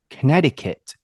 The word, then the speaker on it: Connecticut: it in in Japanese there's like a silent c it's like connected I don't know how you would say in Japanese something like that Connecticut yeah oh Connecticut oh please type it